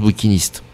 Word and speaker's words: bouquinistes: vous le dire mais ça se prononce bouquinistes ouais il n'y a